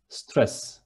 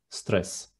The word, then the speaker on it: stres: And stress is exactly the same, stress. But instead of double S, there is only one S in the end, and it is stress.